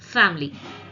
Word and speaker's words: family: Again I will pronounce this. Clothes, asked, months, camera, family.